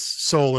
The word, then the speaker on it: Soule: called Silent E Productions, because both Soule and Brown have a silent E at the end there, which I think is very good and clever.